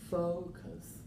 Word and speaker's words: focus: not why not uh focus focus yeah not full cost correct you got it so Focus stressed on the first syllable not over here Focus how about this